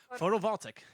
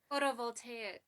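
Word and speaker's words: photovoltaic: it photo voltaic okay you sang it photovoltic photo voltaic voltaic see I thought it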